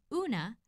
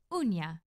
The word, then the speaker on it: uña: In Spanish spelling, this mark above the N indicates that rather than una, the word should be pronounced uña.